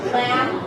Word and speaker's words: lamb: Okay, then the ending, there is no B. Lamb. Comb. Bomb. Right? Not bomb. Climb. Right? Ended with an N.